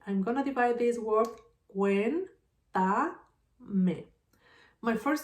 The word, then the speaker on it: cuéntame: Then where is the strongest sound? Cuéntame, cuéntame. If I have the stress in the third syllable, this word is called esdrújula.